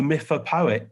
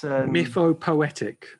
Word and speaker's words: mythopoetic: Maybe we maybe lack the mythopoetic. Poet? How do you say that? It's mythopoetic. Mythopoetic.